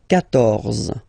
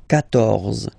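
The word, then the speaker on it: quatorze: Then here, 14, so remember Q and U here, well basically you've got to put this U vowel, because that's the rule in French, even if you don't pronounce it, okay, so you will get the sound K here, K, 14, 14, okay,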